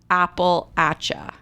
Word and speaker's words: Appalachia: everyone that lives there that is the way they pronounce it apple atcha appalachia alrighty then they're cranky